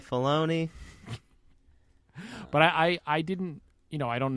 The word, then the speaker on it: Filoni: Did I say it wrong that time? I said it wrong. Man, I started. Fellini, that would be you a say huge Fellini, change to Star Wars. I say Filoni.